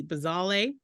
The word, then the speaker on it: Bazawule: Marcus gley and it was directed by Blitz bazal and I should have looked up the pronunciation of his name it's B- a z- a u l e bazal and it was produced by Stephen Spielberg Oprah